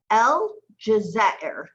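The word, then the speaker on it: الجزائر: Yeah, it's an alif lam, so El, and then Jim with feta, ja, then Zay with aleph, za, and then Hamza al-Kursi with ra with kasra underneath, Ir. El Jazair, El Jazair.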